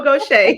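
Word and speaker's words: Gautier: And just so you all know, gocha is spelled g a u t i e r.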